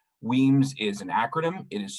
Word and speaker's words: WEAMS: as well as their solar courses with the weems database system i'm going to go ahead and